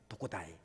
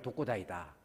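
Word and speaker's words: 特攻隊: 그래서 이 특공대를 일본식 발음이 도코다입니다. 되게 슬픈 겁니다. 그래서 이게 일본의 그 야쿠자들이 혼자 돌아다니면서 싸움하는 사람을 도코다이다.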